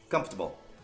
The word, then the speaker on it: comfortable: Só que tenta falar campo de futebol rápido. Comfortable.